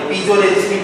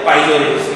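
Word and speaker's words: piezoresistive: वो आपका जैसा प्रोनाउंसिएशन है वैसा बोलिए, पीजो रेजिस्टिव बोलिए या फिर पाइजो रेजिस्टिव बोलिए, दोनों ही करेक्ट है।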